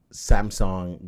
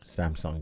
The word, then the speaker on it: Samsung: Samsung Galaxy. The first 2 times you said Samsung. I always say Samsung. It's sung. I know. There's a U.